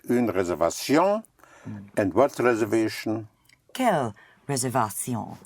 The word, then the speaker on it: réservation: Réservation. Right, réservation, yes. So all words ending in ation is ation because the letter A is pronounced A.